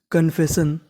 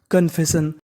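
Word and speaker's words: confession: ओ इसका उच्चारण हमें करना नहीं है हमें उच्चारण खाली एन का करना तो पूरी मीनिंग बनी कन्फेशन कन्फेशन कन्फेशन का मतलब होता है किसी चीज को स्वीकार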